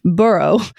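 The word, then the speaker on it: Burgh: sir Edward burrow spelled b r g but pronounced burrow who was in his late 20s and probably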